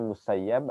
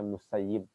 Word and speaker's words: Musayyib: dari Sa'id bin al-musayyib ada yang membacanya musayyab ada yang bacanya musayyib dapat Pa itu beda pelafalan saja tapi kalau guru-guru Kami lebih senang membacanya musayyib diantara guru kami ya karena maknanya lebih baik Kalau mau saya berarti